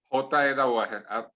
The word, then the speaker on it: Dawaher: Nómbrelo, doctor, ¿cómo es que se pronuncia su Instagram en redes sociales? J.E. Dawager, arroba J.E. Dawager.